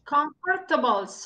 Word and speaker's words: comfortable: Comfortable. Comfortable no es comfortable. Tiene solo dos sílabas.